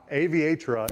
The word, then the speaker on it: Aviatra: i didn't aviator accelerators think aviator but the girl version fantastic i'm definitely going